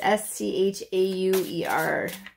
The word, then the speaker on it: Schauer: It's S-C-H-A-U-E-R. Schauer. I don't know.